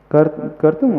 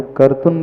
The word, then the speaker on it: कर्तुं: भक्ति की सिद्धि, माइक से बोलना, हाँ, कि दूसरी वाली नहीं, अच्छा, कर तुम वाली, कर्तुम स्तवम विगत शक्ति रपि प्रवृत्तः। अब कर्तुम की जगह कई भक्तामर में आपको कर्तुन भी पाठ मिलेगा उच्चारण में, कर्तुन स्तव, वो